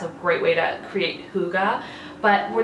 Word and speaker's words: hygge: that I'm not the only one that's been pronouncing this wrong for reference basically the book is all about how to create hygge how Google works what is behind it it's